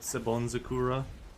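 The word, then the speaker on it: Senbonzakura: The first one is called Sebonzakura.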